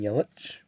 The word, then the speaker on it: Yelich: second year card there christian yelich or yellow depending on your pronunciation like this one's going